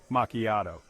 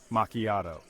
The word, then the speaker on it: macchiato: lastly we have macchiato this word sounds a bit Italian the chi sounds like a k and the stress is on the second part macchiato say it with me macchiato section five putting it